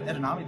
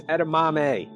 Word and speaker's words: edamame: you know what oh i hope they have edunami this time it's edamame edamame edamame edamame it's fine you know what